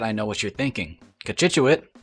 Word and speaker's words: Cochituate: know what you're thinking kachitchut how did you know how to pronounce that did you have to google it and the answer is yes because i might have said something like cockatote and well who's laughing